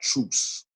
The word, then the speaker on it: truce: O is always pronounced long, O. So U is my and U. So you would pronounce that truce.